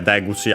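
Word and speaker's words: 出口: But yeah, Deguchi, accent on the first more.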